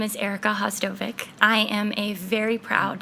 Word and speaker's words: Vhasdovic: It's Hostovvic. The first V is silent.